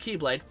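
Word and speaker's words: χ-blade: that's was an X it's called The X blade but it's pronounced keyblade not to be confused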